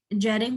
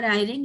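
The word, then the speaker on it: Jhering: Further, it is said that it was propounded by Rudolf von Jering or Eyring, as you may pronounce it.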